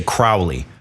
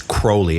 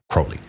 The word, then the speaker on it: Crowley: A lot of people say Crowley. That's incorrect. It's Crowley. It rhymes with holy. He wrote that. It rhymes with holy. Crowley.